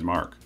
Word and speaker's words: MK: with the letters MK that MK was intended to be pronounced as Mark similarly to how it is used in Europe the problem was that